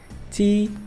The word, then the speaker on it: tea: Não pronuncia esse A. É A junto. Geralmente vai ter um som de I. Não é sempre, mas é a maioria das vezes.